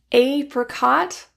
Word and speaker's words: apricot: Apricot or apricot. The first syllable can be like a as in apple or a like ape.